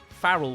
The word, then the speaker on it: Pharrell: about him is that he pronounces his name as farel and my name's and it's not spelled the same but I wish he was Farrell Williams I need more